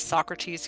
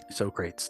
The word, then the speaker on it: Socrates: So the quote, it reminds me of, I believe it was Socrates who said this. Socrates, that's how you pronounce it. Socrates.